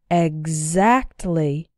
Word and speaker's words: exactly: You can see that in these words, the X is pronounced like gz. Exactly.